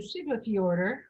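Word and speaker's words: Siglufjörður: The next day we went to Siglafjordur, which that's how that's pronounced.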